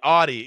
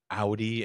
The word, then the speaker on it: Audi: these Brands I look the Audi Audi yes it's Audi I know we don't say that here in the states okay even the people